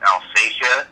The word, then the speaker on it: Alsatia: things we've found say that it should be pronounced alfasia oh okay okay there may be another way